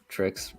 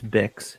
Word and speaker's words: Bix: Yeah, I enjoyed the boyfriend of Trix. Now is their name right? Trix or something? It's Bix, and then Bix.